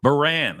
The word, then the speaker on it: Burran: is a young lady how do you pronounce the last name ban Baran Okay ban with the family crisis center